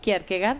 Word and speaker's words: Kierkegaard: Kierkegaard, vos decís Kierkegaard, se pronuncia así porque...